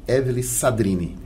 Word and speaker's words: Evellyn Sadrine: E vamos agora aqui falar com a Evelyn Sadrini. Isso. Agora eu acertei. Agora acertou, Evelyn Sadrini. É uma pronúncia um pouquinho complicada.